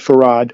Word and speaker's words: Fard: Fared is Arabic. And they have since stripped uh WD Farad of his name.